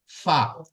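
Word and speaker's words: فا: দেখেন 17 number মাখরাজ 17 number মাখরাজে কি আছে ফা বা কোথা থেকে উচ্চারিত হয় দেখেন রাখেন এই যে নিচের ঠোঁট আছে নিচের ঠোঁটটি উপরের যে দুটি দাঁত আছে যে বড় দুটি দাঁত আছে এই দুই দাঁতের আগার সাথে লাগবে নিচের ঠোঁটটি দুই সামনের উপরের দুই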